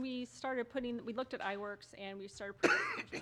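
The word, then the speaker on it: iWorQ: We'll move on to number 8, a discussion of approval of iWork, that's spelled small I WORQ. I had to ask how to pronounce it again.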